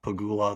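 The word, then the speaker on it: Pegula: I don't know if, I think it's pronounced Pagula, the people that own the Bills.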